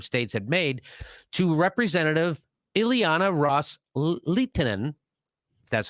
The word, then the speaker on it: Ileana Ros-Lehtinen: So Kerry reiterated to that offer that the Saudis and the Sunni Arab states had made to Representative Ileana Ros-Lehtinen, that's how you say her name, quote, with